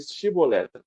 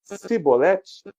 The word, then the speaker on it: chibolete: ele para ele dizer chibolete se ele disser sibolete sem conseguir pronunciar corretamente a palavra prendam e matavam no